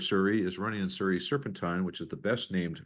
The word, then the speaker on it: Serpentine: It's one of these things that people that live in the neighborhood, some of them pronounce it Serpentine, some Serpentine, but I got it from Brenda Locke. It's Serpentine.